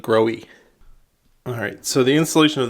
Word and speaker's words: Grohe: from this company and they pronounced it grow e alright so the installation